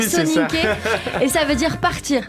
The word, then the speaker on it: Soninké: Le Soninké. C'est comme ça que ça se prononce, le Soninké.